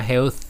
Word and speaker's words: Health: อัน ประเสริฐ นะ ครับ แห้ว ตัว นี้ อ่าน ว่า Health นะ ครับ เอา ลิ้น อยู่ ระหว่าง ฟัน help is better